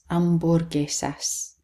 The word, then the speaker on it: hamburguesas: And then the H is silent, hamburguesas.